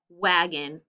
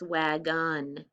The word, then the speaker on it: wagon: the syllables vowel sounds so in this word it's wagon it sounds like wagon we don't say wag on say wagon so it changes it